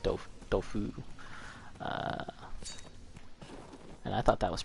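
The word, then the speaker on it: Dofus: I always called it Doofus, but I think it's pronounced Dofu.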